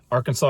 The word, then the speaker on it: Arkansas: And if you're um not from around here, they pronounce the Arkansas River as the Ar Kansas River.